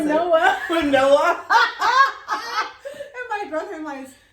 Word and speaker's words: quinoa: And I said, how'd you pronounce quinoa. it? Quinoa.